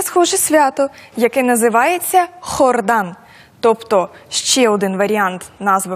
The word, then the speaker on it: Jordán: я думаю що варто записати хордан так так Тобто це літера хота і вона має звук х тому власне відрізняється вимова нашою мовою Йордан іспанською хордан так І власне звідки така